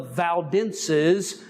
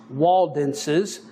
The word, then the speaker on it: Waldenses: And they are the ones who were called the people of the valleys, the Valdenses, which also is pronounced Waldenses, and they joined themselves to the Waldenses.